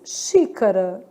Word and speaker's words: xícara: X com som de X, xícara.